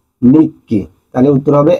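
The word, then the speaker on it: 日記: তাছাড়া এখানে নিচির কাঞ্জি আছে এবং কির কাঞ্জি আছে, দুটো একসাথে বললে হবে নিচিকি, কিন্তু নিচিকি উত্তর হয় না, এটার উচ্চারণ হয় সঠিক অর্থ নিক্কি।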